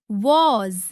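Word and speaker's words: was: वैसे ही वॉज यानी वॉज में भी ज आता है। इसे वॉज या वॉज नहीं पढ़ना है। सही उच्चारण है वाज सबसे पहले बात करते हैं मैं की।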